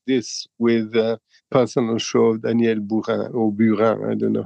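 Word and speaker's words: Daniel Buren: and you inaugurate this with personal show of Danielle ban or I don't know how you pronounce yes Daniel ban yeah yeah right who was at the time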